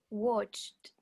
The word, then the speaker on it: watched: Watched.